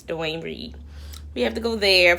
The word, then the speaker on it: Duane Reade: it right here it's not Walgreens here it's Duane Reade we have to go there first so yeah